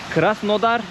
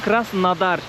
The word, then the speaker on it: Krasnodar: Friends, it is now written as kras nodar, I read it exactly as it is written, but I paid attention to the Russians here, they call it kras nadar, so I think the correct pronunciation is kras nadar some buildings